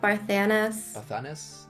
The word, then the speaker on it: Barthanes: and like assassinations and you see the casting, Bathanes. How do you pronounce that? Yeah, Barthanes.